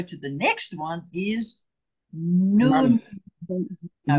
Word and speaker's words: nun: Look at my mouth. Noon. Ooh. None. I'm pulling it a bit of much, but noon. Not none. Or nen. Noon. Okay? None. Noon. Right. We spell it N-U-N. We spell it none, but we say nun. None. Yes, because that's the Hebrew way of saying this letter, which is, and there it is.